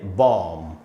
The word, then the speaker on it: bomb: तो पैटर्न इसका भी सेम है लेकिन इसका भी उच्चारण अलग है। तो इसको हमको पढ़ना चाहिए बॉम्ब।